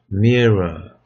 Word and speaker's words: myrrh: Mirror. 이게 모략인데요. 이걸 제가 이제 영어를 찾아봤어요. 그랬더니 발음이 그냥 mirror 이렇게 돼요.